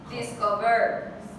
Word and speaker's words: discovered: If it was on the third one, discovered. No. So it's on the second one.